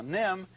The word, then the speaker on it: NIMH: Now, Nim is spelled N I Mh.